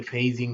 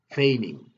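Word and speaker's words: feigning: এই শব্দটি আমরা উচ্চারণ অনেক সময় ভুল করি, আমরা অনেকে ফেইজিং বলি, আসলে এটা ফেইজিং না, শব্দটি হচ্ছে ফেইনিং।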